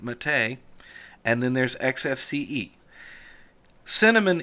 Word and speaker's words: MATE: I know that's spelled mate, but we say it Mate.